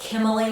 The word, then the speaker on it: Kimilee: So, and also my name is pronounced Kimilee like Emily.